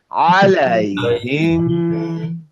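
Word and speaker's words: عَلَيْهِمْ: দেখেন মিমে কিন্তু নাক দিয়ে আসবে, আলাইহিম, আলাইহিম, আলাইহিম উনজিলা, উনজিলা।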